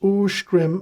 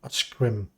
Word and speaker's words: Oskrim: Oskrim is Uskrim and not Oskrim.